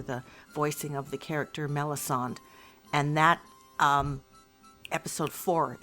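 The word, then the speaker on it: Melisande: So there's Melisand. Melisandre. Melisand. M E L I S A N D E. Melisand. Yeah. Melon. Okay. Usually it's like Mel Sombre, but not Mel. No, no, there's no re on the end.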